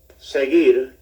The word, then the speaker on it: seguir: Remember, a G followed by E or I is pronounced like an H, but elsewhere is G. Seguir, Has the U in it to give the G the G sound, which it wouldn't have